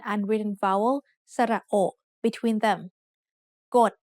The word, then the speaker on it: กฎ: กฎ has a middle class consonant and a dead syllable, so it's low tone.